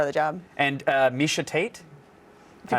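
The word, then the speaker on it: Miesha Tate: and it's part of the job and uh misha tate if you pronounced it wrong i would have loved that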